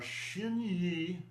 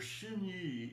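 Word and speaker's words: xin: words for that are shiny and nong. Shiny means your mental intention. All right. And it's actually made from two words. Shin shin x i n means your heart.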